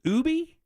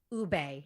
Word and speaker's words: ube: I remember seeing National Brownie Day, but is it pronounced Ubi? Ube. Ube. Oh, Ube.